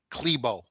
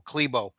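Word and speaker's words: Klæbo: Johannes Hosla Klebo. That's how you say his name even though it's spelled C K L A B O Klebo.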